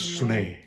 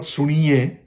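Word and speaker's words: ਸੁਣਿਐ: The way it's pronounced in Jabji is Sune. Sune. If you look at it, it's Syari. Not Suniye, it's Sune.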